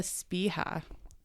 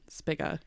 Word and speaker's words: Spiga: I think it's Spia. There's a G, and I don't think you pronounce it that way. Spiga, but it's Spia, I think. Magia. Yeah, you pronounce the G in Italian.